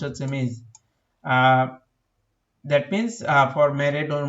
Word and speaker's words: Ms: and for all women we use ms, pronounced হচ্ছে miss.